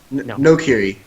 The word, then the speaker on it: Noghri: right the first time no girly no that's not it either Noghri no hockey read no not here no Curie yeah that's it I for the typo